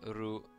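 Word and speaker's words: ル: Pronounce it as Ru, like roof.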